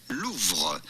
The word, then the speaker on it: Louvre: So, how do you go about pronouncing this with the typical French pronunciation? Louva. Lua. Louva.